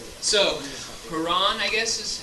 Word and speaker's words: Heron: So, Haran, I guess is how you say that? Heron? Heron? Heron?